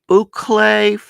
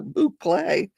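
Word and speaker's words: bouclé: Mickey says that's a boucle, mostly for intermediate to advanced, not beginners.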